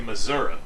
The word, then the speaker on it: Missouri: the people of missouri we say missouri that's the pronunciation when you're down there you know that from illinois right missouri even though it's not spelled that way there were 1400 people